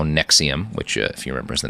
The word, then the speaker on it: NXIVM: a treasure Trove of new information about how Nexium which if he remembers the name of his cult spelled like in X so confused like an [